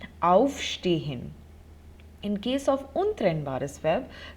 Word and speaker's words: aufstehen: So if you could hear and notice the pronunciation, the emphasis is on the prefix, on auf, aufstehen.